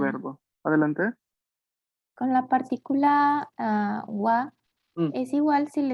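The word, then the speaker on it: は: No, porque ja es la sílaba ja. Wa es la pronunciación que se le da cuando esta sílaba tiene función partícula.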